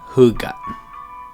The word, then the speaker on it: hygge: h y g g e but it's pronounced who got just want to make sure buenos dias amy